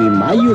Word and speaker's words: Mallo: Para decirles, aquí donde canta el gallo está Laboratorios Mayo. Y Mayo se escribe como gallo. L-L-O, Laboratorios Mayo.